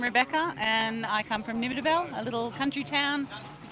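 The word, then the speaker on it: Nimmitabel: Hi, I'm Rebecca and I come from Nimitabel, a little country town. You can see the snowy mountains from my ver. Nimitabel. Correct. Oh, I spelled that. I pronounced that right.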